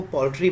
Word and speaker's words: paltry: इसको हम देखो पोल्ट्री बोलते हैं, है ना। इसके उच्चारण पे विशेष ध्यान देना है। The pronunciation of this particular word is पोल्ट्री।